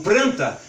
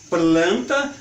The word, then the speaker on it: planta: falam planta, outros falam pranta, não, então vamos colocar uma regra nisso, e aí surgiu a gramática normativa que estabeleceu, planta, planta, vai ser pronunciado sempre com L, que é uma outra